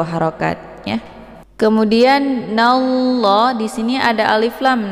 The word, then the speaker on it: Allah: Nah, kemudian untuk lafadz jalalah ataupun lafdzul Allah ini dibaca tebal ya, karena sebelum lafadz jalalah berharokat fathah yaitu na. Cara bacanya innallah, nallah, jadi ditebalkan, bukan nalla ya, tapi nallah ditebalkan.